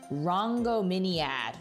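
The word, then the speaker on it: Rhongomyniad: Oh, that's the pronunciation. Rango Miniad.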